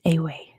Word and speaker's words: Ewe: Looks like you, like a baby lamb, or a female sheep, but it's pronounced Awe.